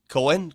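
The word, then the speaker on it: Koehn: pronounce it Cohen because in Germany OE is an a sound ah but there are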